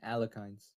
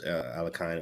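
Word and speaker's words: Alekhine: a Sicilian Khan, we saw a French, and now we get an Alekines.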